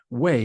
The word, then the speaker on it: Weigh: and her no way and when I say way that's pronounced way but it's spelled Wei G Val I want